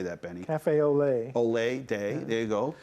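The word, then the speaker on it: café au lait: lot day how do you say that benny cafe olay olay day there you go random act of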